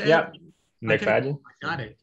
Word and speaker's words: MacFadyen: Yeah, MacFadyen.